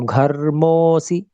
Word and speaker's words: घर्मोऽसि: ये केवल संकेत मात्र है कि यहाँ कुछ संधि हुई थी, इसका कोई उच्चारण नहीं होता। तो घर्मोसी ऐसे बोल देंगे।